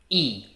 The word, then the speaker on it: e: for example in portuguese there is the word e it means and and another word completely unrelated